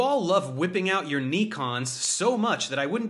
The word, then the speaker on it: Nikon: Nikon.